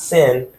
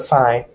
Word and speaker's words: sine: started out let's assign so not sin but sign and it is sine